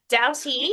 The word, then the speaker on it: Doughty: Uh I would like to welcome Douty.